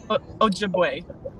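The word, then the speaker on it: Ojibwe: anashinabe means strong woman but how do you pronounce it again alicia a jib away ojibway ojibway yeah okay um like she wanted to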